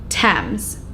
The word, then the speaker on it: Thames: The river's name has always been pronounced Thames.